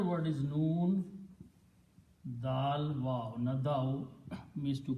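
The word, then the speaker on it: نادى: And it is pronounced as nada.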